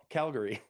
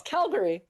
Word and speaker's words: Calgary: Yes, I'm wondering how you say it because I have friends at BC who emphasize on the A. Calgary. Oh, really? That's wrong. Well, yeah. Well, they're incorrect. It's way wrong. They're incorrect.